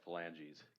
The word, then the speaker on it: phalanges: If the court needs pronunciation, it's pronounced phalanges.